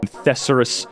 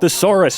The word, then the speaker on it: thesaurus: dude you're you're a therus you're a therus boy and yes I know it's pronounced thesaurus shut up I'm trying